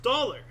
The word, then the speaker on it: Daler: Talar, Low German Daler, Dutch Riksdaler or Daler pronounced dollar.